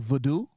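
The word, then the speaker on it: vodou: of voodoo which is spelled v o d o u not v o d not v o o d o o so it's more like vdo okay um sounds non-american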